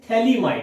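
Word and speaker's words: phthalimide: Students, गैब्रिल scientist का name है, थैलीमाइड, इसमें PS साइलेंट रहता है।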